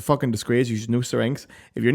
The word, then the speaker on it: Syrinx: Syrinx is how you say it, by the way, but we'll call it syrinx for the sake of this podcast.